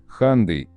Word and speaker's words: Hyundai: произношение марки на английском Hyundai, like Sunday.